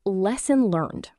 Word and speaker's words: lesson learned: Also, lesson learned links naturally, too. Lesson learned with the final D softened, almost swallowed in casual speech.